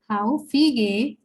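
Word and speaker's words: häufige: Haufige Redemittel. Okay. And here A is the first umlaut, that is A umlaut. So the pronunciation becomes Haufige.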